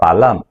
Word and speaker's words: balam: 比如美洲豹这个词，玛雅语读作 balam，可以写作一个美洲